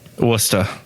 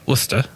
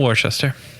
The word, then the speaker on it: Worcester: you say this city worcester worcester right thank you ryan yeah you're welcome uh that's how you say it not worcester no no we've known